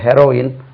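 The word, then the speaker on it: heroine: வந்து ஹீரோயின் ஆச்சு தெரியல போதை பொருளும் இதுவும் ஸ்பெல்லிங் ஒரு ஈ வித்தியாசம் இருக்கு ஆனா உச்சரிப்புல ஒரு ஈ கூட வித்தியாசம் இல்லை ரெண்டுமே கரெக்டா ஒரே மாதிரிதான் உச்சரிக்கப்படுகின்றன உச்சரிக்க வேண்டும் அதே உச்சரிப்பு தான் பிரிட்டிஷ் உச்சரிப்புல கொடுக்கப்படுகிறது okay who இஸ் தி ஹெரோயின்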